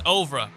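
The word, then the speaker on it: oeuvre: It's ouvra. Like ovaries but ouvra.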